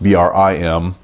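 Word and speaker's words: bream: called brim around here be spelled BRE AM pronounced Bri em so one thing about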